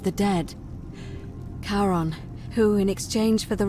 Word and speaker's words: Charon: wasn't karen it was c h a o n as in caron the ferryman of the dead karon who in exchange for